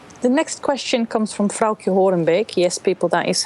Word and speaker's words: Frauke Horenbeek: But the next question comes from Frauke Horenbeek. Yes, people, that is how you pronounce it.